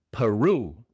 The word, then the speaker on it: Peru: La e es una chua. Pa p pa pa. No p, sino pa. La r es pues un r inglés. Claro. Y la u pues se pronuncia igual como se pronuncia en español, en este caso, Peru. Peru. Peru.